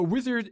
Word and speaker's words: Uizard: serve of course so wizard is a design tool for non-designers and it's basically pronounced wizard but it's spelled with a u so just something to